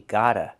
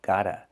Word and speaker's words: got a: We hear the pronunciation of T change to a fast D. We got a, got a.